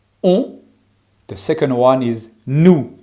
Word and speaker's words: nous: The second one is nous. Make sure you don't pronounce the S.